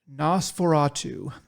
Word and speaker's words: NOS4A2: pretty highly rated was a book called Nosferatu. Um, but it's spelled weird. It is spelled NOS4A2 because it is a license plate, uh, and that's kind